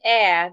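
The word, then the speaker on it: heir: The word air, the H is silent. Let me spell it out. The H is silent in the word air. H-E-I-R. H-E-I-R. H-E-I-R. The H is silent in that word.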